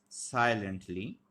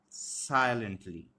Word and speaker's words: silently: will also be unstressed similarly we have silently silently sigh this one will be stress lane Lent this one will be unstressed and we will also